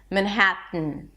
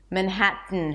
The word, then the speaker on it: Manhattan: Manhattan. Manhattan. However, you'll notice that a lot of people pronounce it slightly different, and that is because they're not even bringing the tip of the tongue up here.